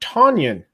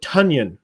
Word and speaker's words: Tonyan: and mention it uh robert tonyan that is not how you pronounce his name it's robert tunian like a funyun fyi in case you